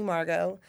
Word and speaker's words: Margeaux: Instagram is at funny Margo and I'm gonna spell it for you because Marco spelled like Pappadeaux it's m-a-r-g-e-a-u-x so funny Margo how